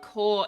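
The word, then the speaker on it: corps: keep spelling the word core incorrectly it has an S on the end but it is silent you don't say it you also don't say the P it's a weird word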